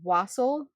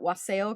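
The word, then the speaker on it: wassail: you some of my it's pronounced wasel but I always like to shout wasel because it's more fun and I make a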